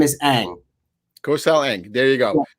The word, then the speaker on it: Eang: Kosal, and the last name is Eang.